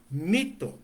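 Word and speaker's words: μῦθος: aqui a palavra mito mito eh eh eh escreve com y e pronuncia como um tipo de I misturado com u né mito eh significa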